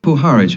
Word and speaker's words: Puharich: Puharich.